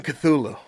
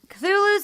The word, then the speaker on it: Cthulhu: And I should say that Cthulhu's only the way that humans say it, because its actual name cannot be pronounced with a human tongue, according to H.P. Lovecraft. Fucking Lovecraft. It was supposed to be more like Cthulhu, like a cop.